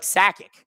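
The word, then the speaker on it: Sakić: accent on it, and I think the proper pronunciation is ich, not ik like we do in Canada. So, I H is or like like Sakic, right?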